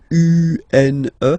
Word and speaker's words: une: Then the feminine article is here, and it's easier because if you have this U-N-E, then you pronounce it une, une.